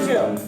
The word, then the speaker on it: Jill: He would say to me, "Now Jill, I will never forget your name because it rhymes with will, and well, you have the will to sing."